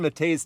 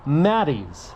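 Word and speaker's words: Mattei's: Lucid Gravity right now turns out I was pronouncing the name of this place wrong it's Mattis not Mate think subconsciously I wanted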